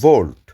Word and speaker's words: Wolt: গ্লভো এবং ভোল্ট ভোল্ট এখানে ডব্লিউ ও এলটি উচ্চারণ হয় বাট ইউরোপিয়ান ল্যাঙ্গুয়েজে বেশিরভাগ দেশেই ডব্লিউ কে ভি উচ্চারণ করা হয় সো আমরা বলি ভোল্ট আর এই দেখুন গ্লভো